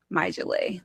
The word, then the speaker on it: My Julia: But you pronounce my name My Julay, but you you know, you spell it My Julia.